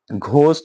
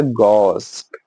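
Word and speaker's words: ghost: Actual में pronunciation में एच हमेशा साइलेंट है। इट इज़ अ गोस्ट। गोस्ट गोस्ट ठीक है? गोस्ट एक्चुअल में वो ऐसा है गोस्ट। गोस्ट तो जब भी आप बोलो घोस्ट नहीं बोलना। आप बोलो गोस्ट।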